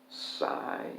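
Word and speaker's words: Sie: Do versus Psi, it's S-I-E.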